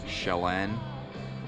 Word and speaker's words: Chelan: I just talked to somebody at the campground here that was telling me that it's Konkanoli and Chelan Lake.